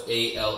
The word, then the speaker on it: Allsome: Awesome is spelled different though. It's Allsome.